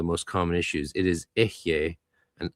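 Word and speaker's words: Eheieh: It is Ehye and Agla traditionally in the GD. Ehye, Agla.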